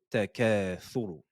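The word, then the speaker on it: التكاثر: Attention, ne dites pas sur ou tsur, tsur, mais thuru, thuru.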